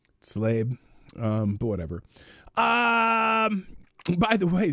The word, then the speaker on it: Tlaib: I always thought it was Talib. Did she spell her own name wrong? No, I think that's right. Tlaib is how it's actually spelled. Slabe.